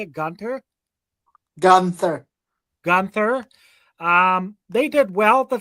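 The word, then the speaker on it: Guenther: Gunther.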